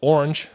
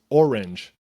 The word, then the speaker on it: orange: So it could be like, they could say it could be one syllable, like orange, orange, orange, or 2 syllables, orange.